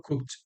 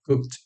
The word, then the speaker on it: cooked: pero en este caso es casi como si fuese una T esa D. Entonces, en presente lo pronuncio cook, en pasado lo pronunció cooked, en participo lo pronuncio cooked y en progresivo lo pronuncio cooking.